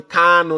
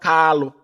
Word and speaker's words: Kanu: Mazi Nnamdi Kanu, not Kalu. Mazi Nnamdi Kanu, not Kalu. Our leader's name is not Kalu, it's Kamanu Ozuzu.